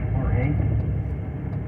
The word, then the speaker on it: Jorge: Jorge, your name is spelled W-H-O-R-E-K-H-E. Jorge.